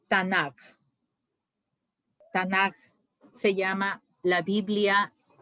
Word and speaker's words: Tanaj: Pues hace una unión de las iniciales, como han visto, la T, la N y la K, y a eso le ponen la A para poderla nosotros pronunciar. Se llama Tanaj.